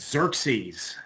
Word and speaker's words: Xerxes: Yes, it's Xerxes. Xerxes the first uh would be how his name would be uh pronounced in uh Greek.